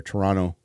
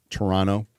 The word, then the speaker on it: Toronto: a homeless guy in Toronto or I'll say it like they do there Toronto Toronto uh built a house